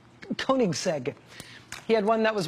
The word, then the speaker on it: Koenigsegg: Koenigsegg. Koenigsegg.